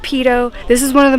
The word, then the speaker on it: Peyto Lake: I used to think it was called Peyto Lake, but apparently it's pronounced Peyto.